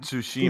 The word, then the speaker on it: Tsushima: It's Ghost of Tsushima. It's not Ghost. It's Ghost of Samsung. What? Tsushima.